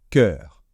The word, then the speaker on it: cœur: e U d'accord donc ce e dans l'eau c'est comme si c'était un e tout simplement donc cœur et on va justement